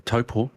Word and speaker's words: Taupo: Unless there's a New Zealand track, then well, Are you plugging the V8s in Taupo at the moment? Oh, sorry, Taupo, as I got informed today. How do you mispronounce it if you are New Zealand, Marshy?